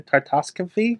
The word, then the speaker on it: Tartakovsky: Tartakovsky?